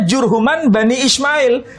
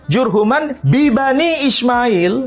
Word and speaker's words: Jurhuman bi Bani Ismail: Ya, dia bacanya Jurhuman Bani Ismail. Jadi Jurhum itu dari kalangan Bani Ismail. Padahal seharusnya Jurhuman bi Bani Ismail. Ada B-nya. Iya, B-nya dihilangkan.